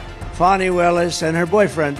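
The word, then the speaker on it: Fani: right has anybody fonnie it's pronounced fonnie F and I that's Fanny but she likes it funny when she became the whatever she became da she became the da she said my name is fonnie fonnie wellis and her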